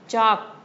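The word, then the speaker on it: chalk: Next चाक सी एच ए एल के spelling तो ये है लेकिन एल की साउंड मिसिंग है यहां पर तो अगेन इसको सर्कल कर लेंगे।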